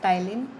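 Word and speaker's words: Ptyalin: तो salivary amylase का जो दूसरा नाम है वो होता है टाइलिन, इसमें पी साइलेंट है।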